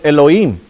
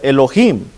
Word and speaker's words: Elohim: en el hebreo es Elohim Elohim si lo quiere decir con la H verdad este la H es muda pero si quiere pronunciarla Elohim Elohim viene según el